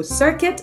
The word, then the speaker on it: circuit: so they have a silent U both words okay so circuit and biscuit activate circuits concerns the